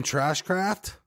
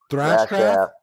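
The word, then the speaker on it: Thrashcraft: say your board's name trash craft thrash craft trash craft thrash not trash sorry thrash n all that's literally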